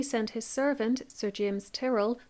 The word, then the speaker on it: Tyrell: his servant Sir James Turell I've also heard that pronounced Tyrell but I'll go with Terrell because that's what the documentary does to do the job